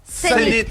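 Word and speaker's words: Cenit: Zénith. Ah. Zénith. Ça s'écrit C-E-N-I-T.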